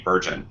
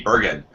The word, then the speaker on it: Bergin: to us by Andy virgin Andy did I see your last name right no no are you really Bergen ok I even asked